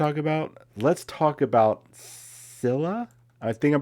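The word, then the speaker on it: Scyla: am i talking about scilla i'm just going to say silla because i think that's the way you pronounce it if you're not familiar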